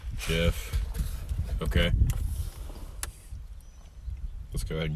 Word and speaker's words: Gef: It's spelled G-E-F. Oh, G-E-F. G-E-F. Jeff.